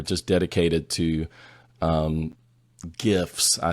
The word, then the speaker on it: GIF: but um I think most people would probably say GIF with a hard G instead of the softer J sound I do and not